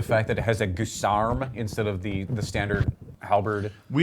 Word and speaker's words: guisarme: I like the fact that it has a guisarme instead of the standard halberd. We like to pronounce that Guisarm.